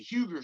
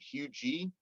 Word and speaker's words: Huger: trying to get the Huger Street they were like you mean qg I was like no I mean Huger because it's spelled h-u-g-e-r like I don't know how